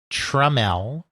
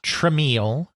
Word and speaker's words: Tramiel: And of course, that name is pronounced Jack Treml. Treml, not TML as people would continually attempt to say it,